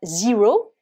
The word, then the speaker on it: zero: donc on va dire zero évidemment on va prononcer le E avec le Son i puisque dans l'alphabet anglais la lettre E c'est le Sony on peut utiliser le